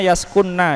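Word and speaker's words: يَسْكُنَّ: mengucapkannya faammal Ula yaskunna itu bacanya yaskunna Ya nunnya di tasdid Nun niswah Adapun mereka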